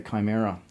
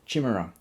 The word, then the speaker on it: Chimera: Right, I've got the Chimera, or Chimera, however you prefer to pronounce it.